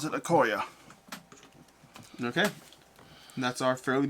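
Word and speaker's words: Okoye: which is all right yeah that's how you pronounce it okoya okay and that's our fairly busy turn this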